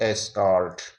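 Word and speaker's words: escort: ई एस सी ओ आर टी, ई के बाद में डबल कॉन्सोनेंट है, फिर वोविल है, आर टी, तो इसको हम ए पढ़ते हुए उच्चारण करेंगे एस्कार्ट।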